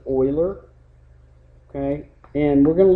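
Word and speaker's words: Euler: after the mathematician Oiler looks like uler but you pronounce it Oiler okay and we're going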